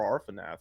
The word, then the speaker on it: Arfonath: How do you spell that? ARFONATH. Arfanath.